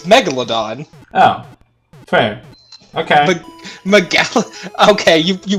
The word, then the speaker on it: Megalodon: How is this was pronounced? It's Megalodon.